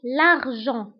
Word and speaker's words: l'argent: فأولا، اقتصاد هو économie شركة une société نقود l'argent فانتبهوا بالنسبة لl'argent كنكتبوها بالتي في آخر الكلمة ولكن ما كنطقوهاش. l'argent.